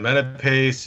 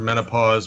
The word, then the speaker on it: Menapace: wife likes that one Menapace is usually easier to to pronounce but you know growing up like I said it was often mistaken for menopause which I got a